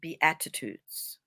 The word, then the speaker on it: Beatitudes: Anyway, when you put in the Beatitudes and make sure you spell it correctly, it's not like attitude, it's Beatitudes.